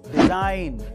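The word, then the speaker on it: design: Number three, अगर किसी word में एन से पहले जी आए तो उसमें जी साइलेंट रहता है, जैसे कि डिजाइन, साइन।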